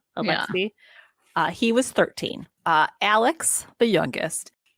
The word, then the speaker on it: Alexei: It's Alex with an EI on the end. Alexei.